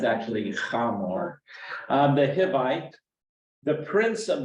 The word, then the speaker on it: Hamor: Yeah, it's actually Hamor, the Hivite, the prince of the land, saw her, he seized her and lay with her and humiliated her.